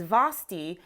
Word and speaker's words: Vasthy: My name is Vasthy, rhymes with a certain snowman, Frosty. That is correct.